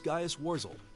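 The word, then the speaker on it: Gaius Worzel: Gaius Warzel, I guess is how you say it? I don't believe I've introduced myself yet. My name is Gaius Warzel.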